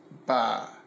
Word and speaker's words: ba: No, wait, I'm sorry, three is ba, and grandma is ba. You got that, guys? Yeah. Pretty sure I'm saying those at least somewhat close. Yeah, you're close. To correctly. But literally, they are spelled the same. There is just an accent over the A in grandma. Mm-hmm. But they sound almost exactly like.